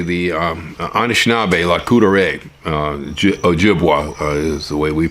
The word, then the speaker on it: Ojibwa: become involved particularly the um anishinabe La Couture Ojibwa is the way we pronounce it uh yeah they uh they not